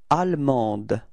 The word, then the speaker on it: allemande: And then en, so A-N-D, finally is not pronounced, so it's en, and feminine form is ande. Okay, so you can see that the final E in the feminine form only gives you the possibility to pronounce the D, okay?